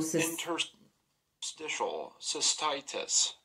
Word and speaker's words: interstitial cystitis: right up can you pronounce it how to pronounce interstitial cystitis interstitial interstitial cystitis interstitial cystitis interstitial systisis is an ulcerated condition